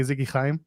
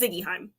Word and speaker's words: Ziggy Heim: go uh you know every time I see your name I always want to say Ziggy Kim it is Ziggy Heim like they pronounce it